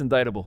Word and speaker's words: indictable: There's a C. No. It's indictable.